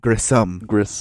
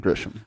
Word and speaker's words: Grissom: And then also, both of us were switching back and forth between Grisham and Grissom. It's Carl Grissom. Grissom. Not Grisham.